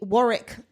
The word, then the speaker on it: Warwick: know that's not it why can't Americans say Warick or Graham yeah Graham Graham Warick